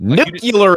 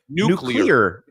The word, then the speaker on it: nuclear: it like that didn't nucular is what you said nuclear is how it's pronounced nuclear is how I